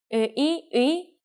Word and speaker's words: 의: For example, the sound of 의 is easy to catch because it goes from 으 to 이. Try saying 으 and 이 in a row and get faster and faster until it becomes one sound.